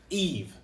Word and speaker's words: Yves: rest of it but eve the s is silent and then in french whenever the y is at the beginning of a word just makes the e sound so eve it's a lot easier